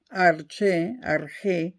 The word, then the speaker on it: arché: Arché, se pronuncia arché y se escribe arché. A-R-C-H-E con acento en la E, con tilde en la E.